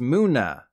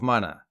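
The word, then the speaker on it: Munna: that evolves into musharna even though it's spelled Mana like money think Moon because it's pronounced moona It's a combination of Japanese for dream and Latin for Moon so I'll let it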